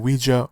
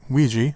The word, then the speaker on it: Ouija: and number four and Ouija or Ouiji again however you want to pronounce it origin of evil came